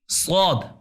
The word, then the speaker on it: صاد: صاد یہ پرحجم اور بھاری حرف ہے. سین میں بھی سیٹی ہے, صاد میں بھی سیٹی ہوتی ہے, لیکن سین کی جو سیٹی ہے وہ باریک ہوتی ہے اور صاد کا تلفظ اس کی سیٹی پرحجم بھاری ہے. صاد. صاد. زبان کا سرہ, زبان کا اگلا حصہ ثنایا سفلا جو نچلے درمیانی دو دانت ہیں ان کے کناروں سے ٹکرائے. صاد.